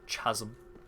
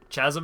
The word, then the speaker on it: chasm: Your D&D players used to rip into you for your pronunciation of chasm. Yeah, they should. Chasm is a stupid way to say it. It's chasm.